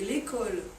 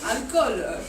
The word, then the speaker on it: alcool: dangers, les cigarettes et l'école. L'école, ce n'est pas l'alcool. Oui, bien sûr. Alcool, c'est comme ça.